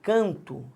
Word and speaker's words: canto: Quando eu falo canto, repare, vou pegar o preto para ficar bonitinho. A sílaba tônica é o can. E quando eu falo cantamos, a sílaba tônica é o tan.